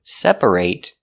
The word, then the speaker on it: separate: Because when you say separate, the stress is on the first syllable only, and that syllable ate is not stressed. So we change the pronunciation to it.